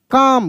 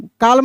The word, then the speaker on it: calm: पाम, CALM, काम, कैसे पढ़ेंगे? काम, काम, काल्म नहीं, काम।